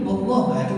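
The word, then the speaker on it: والله: Misalnya diucapkan dengan ucapan lafaz bahasa Arab, wallahi, itu harus berbunyi hi. Kalau tidak berbunyi hi itu bukan sumpah. Jadi orang bilang jangan sumpah, wallah aku tidak tahu menahu. Berani bersumpah, berani, wallah, itu belum sumpah yang namanya.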